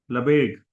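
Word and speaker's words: Lebesgue: हैं इनको क्या पढ़े कोई बताएंगे लबेक हिंदी लबेक तो कहने का मतलब यह है कि जो फ्रेंच है उनके प्रोनंसिएशन में थोड़ा सा ध्यान रखिएगा इसका मतलब इतना ही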